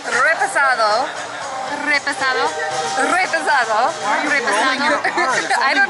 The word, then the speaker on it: reposado: No, But it's not the rolling the R, it's the E sound. It's repasado.